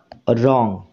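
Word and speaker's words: wrong: শুধু রং এটুকুনেরই উচ্চারণ হচ্ছে, ডাব্লিউ এই লেটারটির উচ্চারণ হচ্ছে না।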